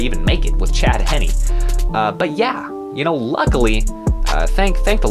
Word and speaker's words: Henne: and I will say I have been pronouncing his name wrong, so I apologize, Chad Henne. I've been calling you Chad Heen, because frankly, I don't really care about you.